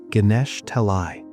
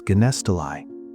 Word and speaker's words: Ganesha Talai: He looks at the name of the town, Ganesha Talai. For 25 years, he had been mispronouncing it as Ganesttoi.